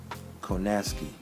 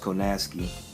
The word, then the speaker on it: Kownacki: that's what it did Adam Coe nasty even though it's it looks a certain way is pronounced Kanaskie he reminds me of